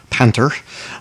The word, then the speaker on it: Panther: german tank uh panther panter osd if we want to pronounce it in german uh panzerkampfwagen pantheroffs dst